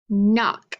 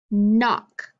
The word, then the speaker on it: knock: first position okay so if i say knife knee knock now try to echoing back with me ready knife knee knock what did you hear at the beginning of those words that's right we heard the m sound look at these words and tell me what letters you think make that sound look knife knee knock there are two letters that make that m sound that k and the